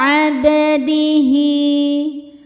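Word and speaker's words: عبده: Abdihi, hi hukumnya mad silah qasirah karena ada hal dhamir diapit 2 huruf hidup dan setelahnya bukan hamzah. Cara bacanya panjang 2 harokat.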